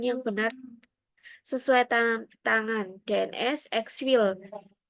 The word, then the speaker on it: Exfil: Format ini digunakan untuk memastikan peserta memberikan jawaban yang benar sesuai tangan DNS Exfil 3 Exfil. Bacanya Exfil ternyata.